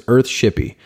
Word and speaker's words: Earthshippie: It's EARTHSHIPPIE. And that's .com for Earthshippy's website or, you know, Ryan's website, of course.